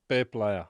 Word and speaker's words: Peep Laja: I always say your name wrong. Peep Laja, Peep Laja, Peep Laja. Say it. Peep Laja.